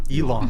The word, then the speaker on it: Elon: Elon Musk, is it Ellen? Elon, I'm saying it right.